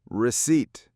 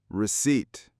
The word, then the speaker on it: receipt: Receipt has two syllables. We stress the second one. The P is silent. Ignore the P. Receipt. Receipt.